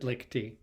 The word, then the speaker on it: Licht: Yeah, we usually pronounce it Lichty.